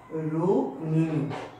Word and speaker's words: রুক্মিণী: রুক্মিণী, আমরা রুক্মিণী বলি যাই যেহেতু রুক্মিণী, এটা হচ্ছে রুক্মিণী, রুক্মিণী। তাহলে দেখে নাও উচ্চারণটা ক এবং ম যেহেতু যুক্ত আছে সেটা হবে রুক্মিণী।